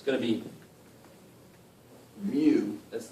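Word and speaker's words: μ: an extra leg and it's pronounced mu like a cow with an accent so this is greek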